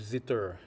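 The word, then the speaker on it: cithare: La sitar s'écrit C-I-T-H-A-R-E. Et c'est plutôt tiré comme du zither. C'est inspiré du zither.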